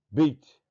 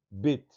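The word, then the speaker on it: בית: Esse ponto Dagesh significa que a casa está sendo ocupada e que a letra vai ser pronunciada assim: Beit ou Bet. Se não tivesse esse Dagesh, esse ponto aí no meio, seria Vet. Vet de vazio, não tem ninguém na casa. Bet, tem alguém na casa.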